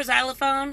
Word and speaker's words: xylophone: think it's hilarious because many X words are spelt with an X and pronounced with a Z what's the point so